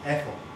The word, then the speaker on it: ethyl: So ethane becomes ethyl, or ethyl, as some Americans say. That sounds like my aunt.